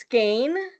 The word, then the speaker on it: Skagen: And then, of course, we're going to go on to, it looks like Skagen, right? But it's pronounced Skane.